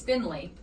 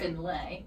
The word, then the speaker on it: Finley: See, it's Finley, but you said Finlay, which would be, you would think, you would be right.